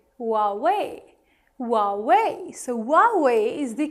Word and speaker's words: Huawei: H here is actually silent and it is pronounced as Huawei, Huawei, Huawei. So Huawei is the correct pronunciation of this brand, and it's not Hawaii or Huawei, it's Huawei.